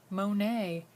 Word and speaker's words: Monet: famous artist named claude monet can you all say his name claude monet there's a silent t at the end because he's a french painter let's look at some